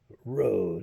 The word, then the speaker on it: Rhoades: name is Lana Rhodes Road as in rode hard put away wet r h o r h o a d e s I believe it's spelled